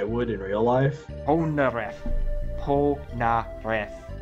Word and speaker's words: Polnareff: Polnareff. That's not how they pronounce it in the show, I'm sorry. That's why I keep getting it wrong. They're like, Polnareff! With thick Japanese accents, Cam.